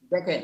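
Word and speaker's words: the: বলে তাই না এটা আমরা দি বলবো নাকি দা বলবো এখন আমরা দি হলো নির্দিষ্টতা দেখেন এখানে আছে টি এইচ ই যদি সঠিক কোনটা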